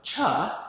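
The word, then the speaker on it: Chih: Um, cha is the way that third word is pronounced.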